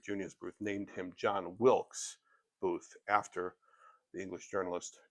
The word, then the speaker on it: Wilkes: Um but the story is that John Wilks Booth his his preferred name was Wilks. He wanted he wanted to be known as Wilks. So if you wanted to get his attention you would yell hey Wilks say hey John.